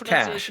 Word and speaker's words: cache: So it's cache.